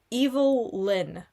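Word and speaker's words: Evil-Lyn: Um, a little shout out to Allison Brave playing Evil Lynn. And I pronounce it like that because there is a I will spell this for you.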